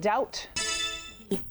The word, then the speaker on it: doubt: What letter is silent in the word doubt? Southridge, that's B.